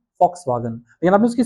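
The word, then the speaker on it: Volkswagen: होता है फॉक्सवागन, not walks vegan, तो वो होता है जर्मन में फॉक्सवागन।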